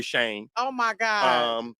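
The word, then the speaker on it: Chene: You've been saying it right because in Detroit we don't pronounce them the French.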